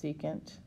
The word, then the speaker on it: secant: This is pronounced secant.